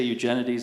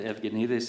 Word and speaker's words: Eugenides: I say Eugenides in English because I've anglicized it, but Eugenides is the right way.